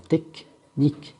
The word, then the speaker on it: technique: حتى la lettre N إلا كانت تبع CH, CH ne se prononce pas ch, ما كنقراوهاش ch, on prononce que. Alors technique, technique.